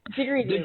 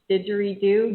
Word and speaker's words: didgeridoo: I don't even think I can pronounce the Aboriginal instrument. What is it? Didgeridoo, right?